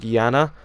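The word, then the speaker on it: Iana: i a na but it's still pronounced like Janna and I was actually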